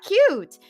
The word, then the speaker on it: cute: Silent E makes the first sound, say its name, take cut, add E, and you got cute.